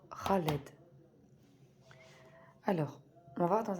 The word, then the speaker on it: Khaled: Donc surtout, ne faites pas cette erreur-là de prononcer Khaled à la française, entre parenthèses. C'est bien le Kha. C'est vraiment au fond de la gorge. Donc Khaled.